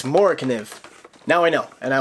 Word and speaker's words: MORAKNIV: I always thought it was like MORAKNIV, MORAKNIV. It's MORAKNIV. Now I know, and I will never mispronounce it again.